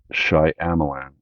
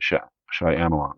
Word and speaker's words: Shyamalan: I always say his last name wrong. Shyamalan. M. Night Shyamalan.